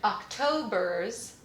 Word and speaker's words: October's: schwa october october's z october's it's a z ending even though it's spelled with an s the sound is a z but because it's the